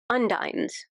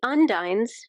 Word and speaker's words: Undines: So, so how do you spell that? U N D I N E S. Okay. Cuz I thought at first he said und like they're going to be your undoing.